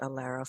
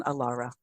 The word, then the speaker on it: Alara: name a lot, is I was pronouncing it Alara for a while. So there's only one R in Alara. Yes.